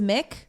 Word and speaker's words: McInnes: But if it's MC consonant, like McDonald's, it's pronounced Mick. No, that's malarkey. If it's Mac, Really? it's M-A-C. Okay. And if it's just MC, it's It's Mick. always Mick?